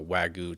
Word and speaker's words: Wagyu: Wagyu beef.